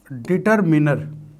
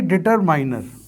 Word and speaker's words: determiner: इसका मतलब होता है निर्धारित करना, और इसका सही प्रोनाउंसिएशन होता है डिटरमिनर। ना कि डिटरमाइनर। मैं अक्सर कई लोगों को देखता हूं कि वो उसका प्रोनाउंसिएशन गलत करते हैं। डिटरमाइनर, अगर आप गूगल पे सर्च करेंगे तो आपको डिटरमाइनर नहीं मिलेगा, आपको मिलेगा डिटरमिनर।